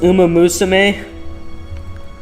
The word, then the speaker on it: Umamusume: Uh, it's pronounced um Musame.